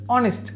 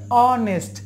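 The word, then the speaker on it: honest: তো এখানে দেখুন, আমরা প্রথমে পেয়েছি একটি শব্দ, সেটা হচ্ছে অনেস্ট। আমরা এই শব্দটি ও থেকে উচ্চারণ করি, আমরা এইস থেকে উচ্চারণ করি না। ও থেকে যদি উচ্চারণ করি তাহলে সেটা হচ্ছে অনেস্ট।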